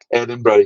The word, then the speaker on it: Edinburgh: was to teach everyone the correct way to say Edinburgh. He didn't want missionaries to say like Barrow. It was like, no, you have to say Edinburgh. It's like bread and butter.